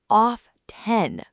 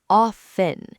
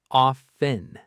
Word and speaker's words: often: The correct pronunciation is often. The T is completely silent. Silent. Gone. It doesn't exist. Often.